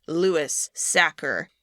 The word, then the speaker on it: Sachar: Probably due in part to the fact that the author of the book, Lewis Sacker, which to be clear is how his name is pronounced, he is the one who wrote this screenplay.